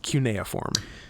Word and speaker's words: cuneiform: I I don't know if you said cuneiform or carry coniform oh yeah it's cuneiform uh so yeah well they're